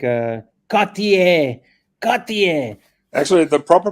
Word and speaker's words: Cartier: how do we say other names like uh Cartier Cartier actually the proper pronunciation is got the air and what about uh Vaseline and Constantine uh